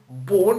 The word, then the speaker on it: born: Born, ça s'écrit B-O-R-N, mais comme en anglais, le R, c'est une lettre muette qui se fait avec la langue collée au palais. Born.